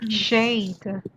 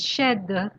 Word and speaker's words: shed: okay you pronounce it you're pronouncing it like shade don't say that's something else it's shed also but also we